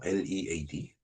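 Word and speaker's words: lead: Lad 예 리드로 읽으면은 뭐 이렇게 이끌다라는 뜻이지만은 어 레드로 발음할 때는 납이 됩니다. 원소비죠.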